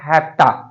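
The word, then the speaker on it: have to: जैसे मैंने आपको हैव टू का बताया था, हैप्टा कॉन्ट्रैक्शन होता है, शॉर्टकट में बोलते हैं हैप्टा, और हैज टू को क्या बोलते हैं, हैजटा।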